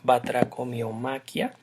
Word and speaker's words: batracomiomaquia: Trataré de hablar ahora de la batracomiomaquia o batracomiomaquia. Generalmente la encontramos sin el acento en la i, batracomiomaquia, y el nombre pues